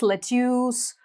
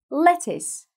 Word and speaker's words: lettuce: ну дальше нас салат говорят мэтьюз lotus на самом деле тоже там все очень просто два слова всего лишь it's lattice все больше ничего нет так же посложнее наши